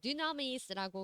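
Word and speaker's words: δύναμις: The original word, 기본적인 단어의 power라고 하는 그 능력이라는 기본적인 의미는 그 단어는 Greek, 그래서 그리스 말인데 그 dynamis라고 그렇게 발음한다고 하네요.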